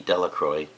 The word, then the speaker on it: Delacroix: and Harry Jones and Dicky Lucroy the villagers pronounced his name Delacroix eventually made a great